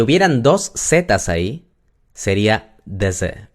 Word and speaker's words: deze: ¿Se dan cuenta que cuando pronuncio esta persona, deze, la primera, si yo separo day y luego z, en una sílaba, no se puede. Tiene que ser en dos. Day, z. Entonces ahora entienden por qué la primera se pronuncia a pesar de que está escrita con una sola e.